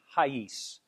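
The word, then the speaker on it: reais: it's rice r-e-i-a-s but they pronounce it in an unusual way that i have trouble pronouncing to me it sounds like haise that's the plural for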